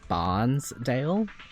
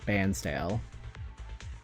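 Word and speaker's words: Bairnsdale: It's spelled like you'd say Barnesdale, but you actually call it Bansdale.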